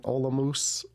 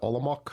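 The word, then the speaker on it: Olomouc: Um my favorite was in Olamoose. Uh some people pronounce it olok but it makes the people from Olamus makes their ears turn.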